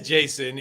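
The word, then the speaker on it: Jayson: So Jason is Jason, even though it's, you know, it has the extra Y.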